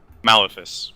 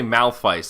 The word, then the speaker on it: Malefice: Malefice. Malefice. I say Malphite, and I don't think that's right. Malefice. I'll find out how it's pronounced. Malefice. I think you're correct.